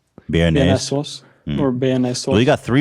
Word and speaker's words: Béarnaise: Béarnaise. Béarnaise.